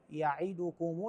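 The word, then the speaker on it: يَعِدُكُمُ: تعالى الشيطان يعدكم الفقر كلمه يعدكم هكذا تقرا يعدكم الفقر بعضهم يقراها يعدكم او يعدكم ا ذني مو صحيحات صحيحه يعدكم الفقره في السطر الما قبل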